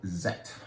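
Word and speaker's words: Sekt: i am talking about german sparkling wine called zet it's spelled with an s which is weird isn't it but that's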